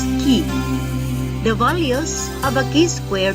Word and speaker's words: chi: is written as k-square the greek letter pronounced as key the values of a